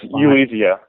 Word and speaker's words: Ulizio: Nolan Ulizio, I'm not even sure how you pronounce his name. It's Ulizio.